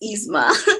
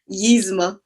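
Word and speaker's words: Yzma: pronounce her name properly how do you pronounce it say it down here is it like yeezy it's just isma no why oh sorry i can never say it right cali why are we yeezma you're attacking me on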